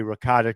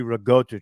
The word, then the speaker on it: ricotta: Italian it's in Yoki just like they say ricotta cheese it's really rigota cheese but you know yeah we're good my